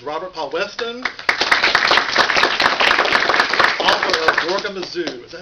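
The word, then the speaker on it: Zorgamazoo: Author of Gorgamazoo. Is that how you pronounce it?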